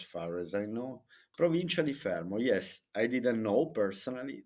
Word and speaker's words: Fermo: properties the cheapest property for sale in fmo fermo let me let me pronounce it in the Italian way so okay